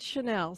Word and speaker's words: Chenille: and the Rainbow Hunters, and that's Pinky Chenille, by the way. And some people pronounce it Chanel, so there you go. I've heard Chanel. some people pronounce it Chanel, Okay. but we nice. here out in the West call it Chenille.